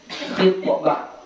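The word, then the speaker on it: خِطبة: Dan ketika melamar perempuan khitbah ya melamar atau memin ya. Knya baris kasrah. Kalau khannya baris dammah.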